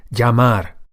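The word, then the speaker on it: llamar: phone, to call is yamar. Yamar. Remember the double L sound like we saw before in the word for chair. Sea is like uh a Y in English.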